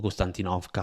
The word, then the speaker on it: Konstantinovka: Pogrovsk, Kramatorsk, Sloviansk , Constantinka che è scomparsa o Constantinovka, a seconda di chi la pronuncia.